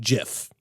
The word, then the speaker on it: GIF: The first type, which we're actually not using in this particular HTML file, are GIF images, sometimes pronounced GIF.